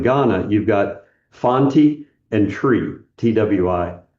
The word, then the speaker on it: Twi: So in Ghana you've got fonti and tree twi. I say tree. I noticed you were saying chi. Um I kind of pronounce it tree but anyway they have these local languages.